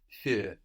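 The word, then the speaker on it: für: with the uml but the idea with the uml is that it adds a quality of an e no so actually another way thinking about the sound is to think of a o o o and put your lips in the shape they are when you make an O and keeping your lips in that shape pronounce an e exactly that's it that's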